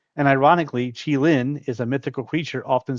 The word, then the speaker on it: Qilin: Then we have this one is actually pronounced Qilin, and ironically, Qilin is a mythical creature often seen as a symbol of peace or prosperity.